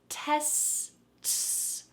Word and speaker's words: tests: There needs to be a hard T sound at the beginning. TS. TS. TS. Now let's add on the beginning of the word. Tes-ts. Tests. Tests.